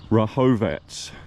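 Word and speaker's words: Orahovac: So it's spelt with an O on the front. I'll put it up on the screen, but the O's silent, and somehow you get a T in there at the end.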